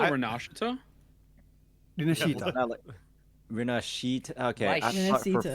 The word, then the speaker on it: Rinascita: saying, no, it's like it's Rinascita. These Western CCs, that's how it's pronounced. Y'all are trying to be the special. It's supposed to be with Rinascita. It's supposed to be with a she sound.